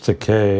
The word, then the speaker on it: Takei: saw recently that George te has in June a new graphic novel coming out it rhymes with te and it's gay if you don't know